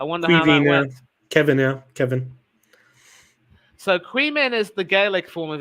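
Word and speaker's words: Caoimhín: Kevin yeah Kevin so queman is the gaic for of his name is it yeah Quine is the name for Kevin Quine but it's spell que so the m is pronounced V that's right yeah qu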